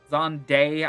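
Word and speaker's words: Xande: Um, it's X A N D E. Zi. Um, Zande, I think is how I also hear it pronounced.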